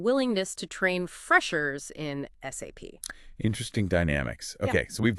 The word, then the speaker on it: SAP: And crucially, always spell it out. SAP. Don't say SAP.